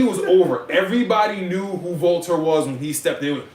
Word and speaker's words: Walter: Volter was over like Rover. Volter. Water? Walter. Walter? Walter. Yes, Walter. Walter. I know It's not Walter? No, it's spelled Walter, but it's Volter.